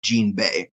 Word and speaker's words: Jinbe: at the end and it'll just it's just Gan Bay so yeah his name's a gan Bay awesome